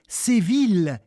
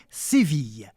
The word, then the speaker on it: Séville: de séville de beaumarchais mais vous l'avez peut-être déjà entendu prononcer ainsi le barbier de seville qui correspond probablement à la façon dont on le disait au xviiie siècle mais au meilleur résumé nous avons choisi la manière moderne séville allez c'est parti direction